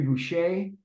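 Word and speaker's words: Boucha: um from the NHL uh Henry Boucher uh pronounced uh spelled b-o-u-c-h-a playing for the Red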